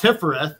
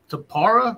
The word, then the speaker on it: Tiphareth: And I learned that it's not Tiphareth; it's Tapara.